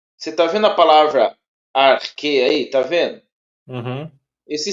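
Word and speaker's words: ἀρχή: Você pronuncia esse X aí, vamos colocar, não é o X, vou colocar de uma Uhum. forma mais fácil aqui. Uhum. Esse X aí você pronuncia como o Corri. que, entendeu? Arque, arque, que. Ele vai ter o som de que também, tá?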